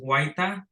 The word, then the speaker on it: Huayta: My last name is pronounced Huayta, so it'll be Huayta.